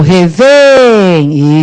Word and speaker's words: revém: Qual é a sílaba tônica de revém? O revém. Isso, é o V.